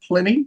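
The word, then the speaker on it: Plini: Am I pronouncing that right? Is it Pliny? Yeah, it is Pliny. Right. Yeah. That's his name. Excellent. Pliny.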